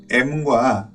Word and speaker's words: em: 자, 이번 시간에는 M과 RM이라는 단위에 대해서 한번 알아볼게요. 자, 이 단위의 발음을 EM이라고 하는 경우가 많이 있는데 사실 정확한 발음은 M이라고 하는 것이 맞죠.